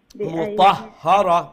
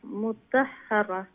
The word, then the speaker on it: مطهرة: صحف مكرمة مرفوعة مطهرة মুতাহহারা হারফে তশদীদ না নি দুইটা হা উচ্চারণ করা লাগবে নাইলে একটার উচ্চারণ বাদ যাইব কি মারফুয়াতিম মুতাহ মুতাহহারা জি ফি সুহুফিম মুকাররামা